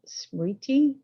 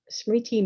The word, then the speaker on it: smriti: word in um sanskrit is i'm going to mispronounce it smear smriti s-m-r-i-t-i um and the poly word is sati